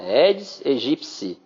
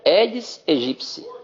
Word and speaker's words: aegypti: Aedes aegypti. Porque o piti tem um som de psi, a pronúncia é psi, né? Aí nas origens greco-latinas. Então, é Aedes aegypti, ok?